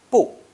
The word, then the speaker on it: 不: With first tone, 不生, 不生, not give birth. With second tone, 不白, 不白, not white. Third tone, 不久, 不久, not long. With fourth tone, 不大, 不大, not large. 不 changes to 不 before another fourth tone.